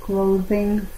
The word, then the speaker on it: clothing: María has made a few pieces of clothing for me. TH, como los españoles pronuncian la Z.